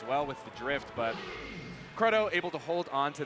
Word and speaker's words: Krudo: But yeah, the Krudo lore, the correct pronunciation, according to Kyle, is Krudo.